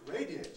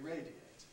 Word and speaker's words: radiate: vowel radiant compressed radiant to radiate on the other hand is not compressible it has to stay as three syllables because a at that point is strong radiate so you can't say radiate you have to say radiate radiate radiant you can't